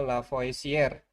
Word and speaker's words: Lavoisier: ini kita mengacu pada hukum Lavoisier ya atau Lavoisier bacanya.